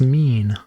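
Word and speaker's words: mien: Oh, it's pronounced mean.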